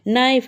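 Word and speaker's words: knife: नाइफ इसमें देखो एन से साउंड शुरू हो रहा है। के का तो कहीं बोलना ही नहीं आ रहा है। तो इसमें के साइलेंट है।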